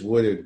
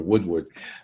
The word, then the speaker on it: Woodard: Woodard, and it is Woodard, by the way, in case the fans start running after us for Woodward.